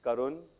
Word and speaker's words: Karun: YouTube in case you're listening my name is karun that is spelled k a r u n so the